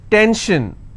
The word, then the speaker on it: tension: SION, tension, pension. So how many syllables in tension? 2. Tension, I will stress on 10.